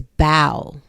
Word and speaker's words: bow: But then we have this word that is spelled the same, is written the same, but you pronounce it differently. This is bow.